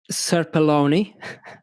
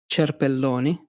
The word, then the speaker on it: Cerpelloni: In English, it's pronounced Cerpelloni, but in Italian, it's Cerpelloni.